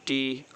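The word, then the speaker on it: two: Next है टू, टू, इसमें टी ओ, टू, डब्लू यहाँ पर साइलेंट है, टू।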